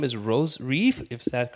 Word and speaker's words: Reif: Her name is Rose Reif, if that's correct I'm pronouncing it.